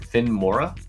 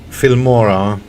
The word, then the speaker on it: Filmora: Finmora? Yeah, it's cheaper version for the dumb people like me. Finmora, let me look it up. How you spell that? Film like film, Filmora.